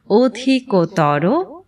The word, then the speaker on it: অধিকতর: তর ও তম প্রত্যয় সংযুক্ত বিশেষণ পদে অন্তিম অ প্রায়শ উকারন্ত উচ্চারিত হয়। প্রথমে তর প্রত্যয় সংযুক্ত শব্দগুলো আমরা অনুশীলন করে নিচ্ছি। অধিকতর, উচ্চতর, ভিন্নতর, অন্যতর, গুরুতর এবং বৃহত্তর।